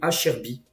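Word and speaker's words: Acerbi: Et du côté de l'Inter, donc par exemple à Serbie, il faut dire Acherbi.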